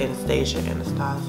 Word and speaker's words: Anastasia: That's how you say it, Anastasia.